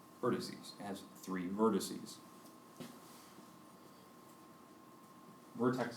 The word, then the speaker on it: vertices: we have here three when it's plural you pronounce it vertices vertices it has three vertices